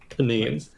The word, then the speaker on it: Benin: So, it's uh Benin. Benine. I looked up how it's pronounced. Benine.